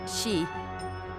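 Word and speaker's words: síd: En irlandés antiguo, estos lugares se conocen como side. La palabra se pronuncia aproximadamente shi.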